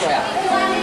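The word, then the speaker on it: toea: And its currency is 1 toya, 2 toya. We pronounce it as toya.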